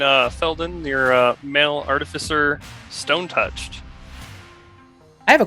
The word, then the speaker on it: artificer: say that all right I think the correct way to say it is artificer why do you say artifice like an art like artifice is like it's like a lie right or like it's a